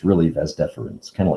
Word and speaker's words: vas deferens: they drop the first e and they just pronounce it vas deferens but it's really ves deferens kind of like wednesday then the urethra and